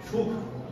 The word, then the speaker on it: সুখ: আমাদের যে মহাপ্রাণ বর্ণ, যতক্ষণ না আমরা হাওয়াটাকে বার করছি, তখন ভয়ের উচ্চারণ হতে পারে না। বাঘ, এই হাওয়াটা বার না করলে সেটা ভয়ের উচ্চারণ। সুখ, এই যতক্ষণ আমরা হাওয়াটা বার করছি, ততক্ষণ তার উচ্চারণ হল সুখ।